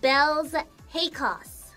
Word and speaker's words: Baelz Hakos: chaos without saying chaos my name is pronounced belle's hakos what's the craziest youtuber